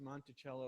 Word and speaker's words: Monticello: spoke Italian and monello means little Hill or hilock in Italian so we're pretty certain that that he did pronounce it monello now you I thought